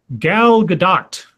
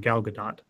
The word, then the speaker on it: Gal Gadot: Gal Gadot. I believe that's the correct way to say her last name, Gal Gadot.